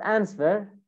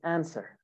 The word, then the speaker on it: answer: is wrong it's not answer it's answer the w is silent actually answer burned burned normal